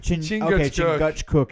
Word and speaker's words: Chingachgook: I don't really know how to pronounce that character's name. Is it like is it Chingachgook. Chingachgook?